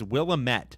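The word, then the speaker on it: Willamette: willit it's not will it's not will Amit all right you freaking oregonians it's willamet we've all we've all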